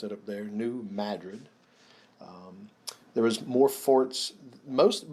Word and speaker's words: New Madrid: named new madrid they don't that's how they pronounce it up there new madrid there was more forts most but most of